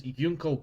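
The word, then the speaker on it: Junko: His name is Yunko Bar. It's spelled with a J, by the way. The German J.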